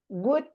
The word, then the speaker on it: would: Lo que te quiero decir es que en estas palabras la L nunca se pronuncia. Entonces directamente y la O tampoco. Entonces vos decís could, would, should. It's always the same.